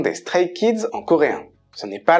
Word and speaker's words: Stray Kids: Stray Kids se dit en coréen Stray Kids. Stray Kids. Donc c'est exactement Stray Kids en anglais qui veut dire les enfants errants mais avec la prononciation coréenne.